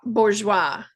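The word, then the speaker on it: bourgeois: By the way, the pronunciation of that, I guess, is bour. Bourgeoa.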